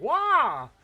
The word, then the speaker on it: Roy: Oh gosh, but no, it's spelled R O Y Roy, but it's actually Patrick Wah.